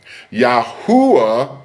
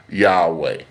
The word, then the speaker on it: Yahweh: Yahuwah means nothing in Hebrew.